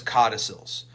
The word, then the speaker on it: codicil: amendments to our wills those are known as codicils um if you want to know how it's spelled it's c-o-d-i c-o-d-i-c-i-l codicil and what you're